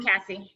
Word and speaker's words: Cassie: I'm Cassie, yeah. I'm Casey. I know, I get called Casey all the time.